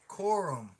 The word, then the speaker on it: Corum: There's your man right there, Coburn. You said Coburn? Coburn, however you pronounce it. I will follow him. Corum. How do you say it? Corum. Corum. Damn, almost sounds like corn.